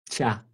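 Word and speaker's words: tja: essa aqui ó tch a pronúncia é Tchá Tchá Tchá Tchá corresponde ao nosso tchá fazer o quê tchá né É desse jeito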